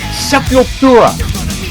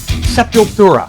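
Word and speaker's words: Sepultura: It's Sepulura. It's Portuguese. They're from Brazil. They they pronounce it seepilura not seep not seepura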